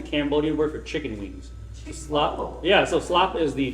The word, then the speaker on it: Shluap: Manan is chicken right if you say it in two syllables slap is to kill don't say in two syllables okay you got say slap okay so one syllable is Wings two syllables is the kill okay so uh so